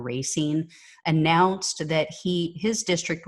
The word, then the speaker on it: Racine: general in dc uh carl racine i believe is how you pronounce his name or racine announced that he his